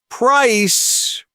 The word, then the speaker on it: price: Price, with that clean, long I sound, is how much something costs.